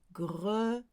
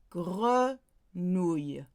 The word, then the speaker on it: grenouille: Grenouille. Grenouille, grenouille, not grenouille, grenouille, O-U, grenouille, grenouille.